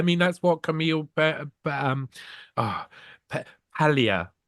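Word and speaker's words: Paglia: that's what Camille um Pia you don't pronounce the G um Camille P Pia says you know they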